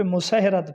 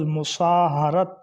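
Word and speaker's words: مصاہرت: کو عام طور پہ مسہرت پڑھتے ہیں یا مساہرت پڑھتے ہیں، حالانکہ یہ باب مفعلہ سے ہے، اس کا درست تلفظ مساہرت، ہا کے اوپر بھی زبر، را کے اوپر بھی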